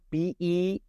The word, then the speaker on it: Bexar: Bexar County Bigfoot, Bexar. It looks like Bexar, but it's not. The X is silent.